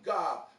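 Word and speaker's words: Gab: is from the homeboy Gob, G-A-B, but pronounced G-O-B.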